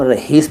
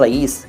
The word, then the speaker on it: रईस: है वो अपना नाम रहीस बताते हैं, रहीस। और कई लोग तो रहीश कहते हैं, रहीश, रहीश अहमद ना। सही शब्द है रईस, रईस। साउंड जो मैंने बोला वो आपने सुन लिया ना, वही उच्चारण है, रईस।